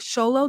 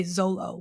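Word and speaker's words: Xolo: Okay, so phonetically, if I'm looking at his name, I would say Zolo with that Z. But when I hear him say his name, it sounds like Sholo.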